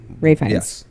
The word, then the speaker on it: Ralph: um alen Arin ralin Rines Rines not Ralph Ray F pronounced as Ray but spelled like Ralph it doesn't